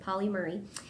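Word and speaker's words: Pauli Murray: I think that's how you say it, Polly Murray.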